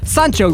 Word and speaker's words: Sancho: Sancho rhymes with Pancho, which means hot dog in Spanish.